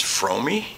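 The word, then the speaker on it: Fromme: I think one of the first things I butchered was I used to call her Lynette Frome all the time. Actually, her name's Fromey.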